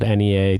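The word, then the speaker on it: Henniez: of um sparkling water called Nea but it's spelled like H NN i e z and it's from a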